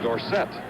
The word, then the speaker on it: Dorsett: and wes dorsett recently tony says we should pronounce his name gorset however too many people know it the other way chris had a hard time changing too late his parents know it dorset third and five now